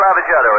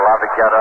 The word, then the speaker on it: Lavagetto: Cookie Lavagetto is coaching at first. Cookie's name, of course, is pronounced variously around the major leagues by ball players. They call him Lavagetto, Lavagetta, all sorts of things.